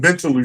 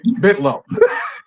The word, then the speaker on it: Bentalou: But it's pronounced Bentaloo. There's an A in that word, in that street name. It's Bentalou. It is pronounced Bentaloo. But being from Baltimore, we say Bitlow.